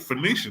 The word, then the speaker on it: Phoenician: Phoenician.